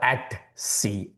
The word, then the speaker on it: etc: etc are at c at c. etc are at c. The professionals would always pronounce as at c.